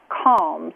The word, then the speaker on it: Calmz: So there's a company called PetMate that just launched this new product called Calms. It's spelled CALMZ.